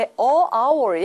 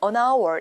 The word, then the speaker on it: hour: 우리가 보통 알고 있는 우리가 시간이라는 단어는 H로 시작하지만은 앞에 묵음이죠. h가 따라서 이때는 our 모은 발음이죠. 앞에 a hour이 아니라 an hour 이렇게 출제가 되는데 시험장 가시면